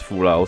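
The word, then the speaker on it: Fou-Lu: You know, some people pronounce it as Fulau, some people pronounce it as Fulu. Now, I'm going to go with how I've always pronounced it, and also how other people have also pronounced it, you know, as Fulu sort of thing.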